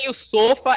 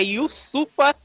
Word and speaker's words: Yusupha: yua yusufa Geovani Afonso Ufa não é iofa é yufa em pra gente aprender aí